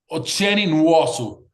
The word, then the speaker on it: Nwosu: Say it to us because I don't want to pronounce it incorrectly. UASu is that okay?